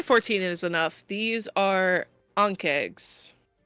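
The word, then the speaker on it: ankheg: is enough these are ank eggs ank eggs an eggs I think I'm pronouncing that correctly a n k he e g yeah egg massive many-legged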